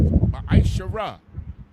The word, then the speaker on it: ma'asharah: Means tenth in the Hebrew and is pronounced ma'asharah.